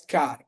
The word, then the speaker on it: char: denoted by a character, car, char. They have multiple pronunciation, but it's generally denoted as car, okay?